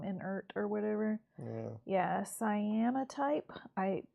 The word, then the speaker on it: cyanotype: Yeah, cyanotype. That's maybe how it's pronounced. But it's spelled like cyan and then O type. All one word.